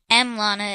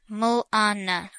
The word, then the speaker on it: Milana: And no, it's not pronounced M Lana. It's pronounced Mulana.